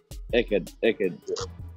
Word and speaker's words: Eckerd: So, how do you pronounce it? Was it Eckerd or Eckerd? Eckerd.